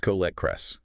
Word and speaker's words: Colette Kress: Colette Kress, pronounced Colette Kress.